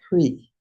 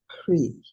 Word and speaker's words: Hri: the lotus where sits yet one more seed syllable. Hri. I don't pronounce it well. Hri.